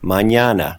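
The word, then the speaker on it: mañana: Annie and the n in the same word Manana hear the difference you've really learned a lot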